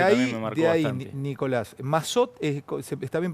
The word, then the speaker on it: Massot: Nicolás, Mazot, ¿está bien pronunciado? Mazot, Sí, es sí, sí. Mazot.